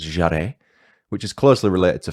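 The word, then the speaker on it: Jèrriais: I think it's pronounced Jarret, which is closely related to French.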